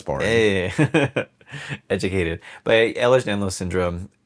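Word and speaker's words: Ehlers-Danlos: I don't I don't I don't want to mispronounce it. Do it. No, no, do it. Ellers Danlo. Oh, you got it. That's boring. Yeah. Yeah. Educated. But Ellers Danlo syndrome.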